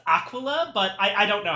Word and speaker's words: Aquila: Apparently, it is Aquila. It's Aquila? Yeah. Yeah. I see. Oh wait. Also Aquila. Aquila. That might be how like the quote unquote correct Latin pronunciation.